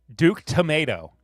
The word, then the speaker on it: Tomato: It's just pronounced tomato? No. Okay, fine. Duke Tomato.